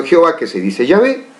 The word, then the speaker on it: Yahvé: Tetra significa 4, gramatón, las grafías o letras, que significa y se pronuncia Yahvé.